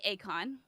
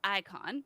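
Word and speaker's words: Eikon: oh this one icon it looks like akon like the musician but it's icon so it's spelled e-i-k-o-n will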